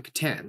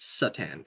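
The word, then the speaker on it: C'tan: because they're called the Katan now it's pronounced Katan not Satan it it's a little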